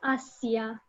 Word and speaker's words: Asia: yeah yeah so you you spell it the same as in english but you pronounce it by romanian rules asia okay just examples i